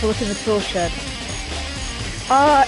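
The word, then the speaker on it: 四: is the number four one of the ways of pronouncing it is she and she is also the word for death in Japan so therefore it's unlucky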